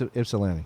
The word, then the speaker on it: Ypsilanti: Yeah, It's Ypsilanti.